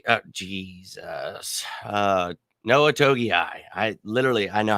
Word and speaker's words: Togiai: but we put on the practice squad noah toki oh jesus uh noah togiai i literally i know how to say it